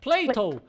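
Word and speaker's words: Plato: como ela conseguiu mas em inglês Platão se pronuncia Cleiton que é muito parecido com play-doh aquela marca de massinha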